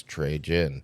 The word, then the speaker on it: Trejen: to me it's like you say it the way it looks trey jin yeah um yeah but